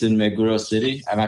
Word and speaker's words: Meguro: It's in Meguro City. Am I pronouncing that right? Meguro, yes.